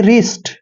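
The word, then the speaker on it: wrist: अगर आर से पहले कोई कहा, जहां पर W आता है, आर से पहले W आता है तो W वहां पे साइलेंट रहता है। तो आर को हम रे लिखेंगे और IST को क्या पढ़ रहे हैं, ईस्ट, यानी कि रिस्ट।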